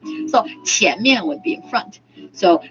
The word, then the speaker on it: 前: It shares the same pronunciation with money. Oh, really? 钱? 钱. That's how you remember it. You can remember it. 钱 and front shares the same pronunciation. 钱. So 前面 would be in front.